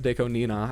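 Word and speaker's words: Deco*27: Um it's a reference to a musician called Deco27, actually pronounced Deco Nina, I think.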